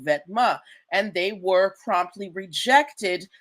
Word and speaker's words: Vetements: This word vetma or vetiments as as Americans like to pronounce it means clothing in French.